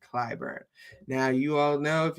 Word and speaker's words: Clyburn: is because he wants Jimmy Cly Clayburn out. I always say that nigga's name wrong. Um Clyburn. Jimmy Clyburn.